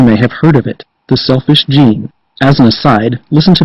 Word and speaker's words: The Selfish Gene: way i pronounce it the selfish gene as opposed to the selfish gene what's my point the latter pronunciation suggests that the book might be about a gene in humans that causes selfishness i'm sure that mr